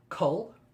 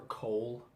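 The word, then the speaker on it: Coll: Cull, or Cole, Call. I say Cull, which I think is actually the correct pronunciation as well.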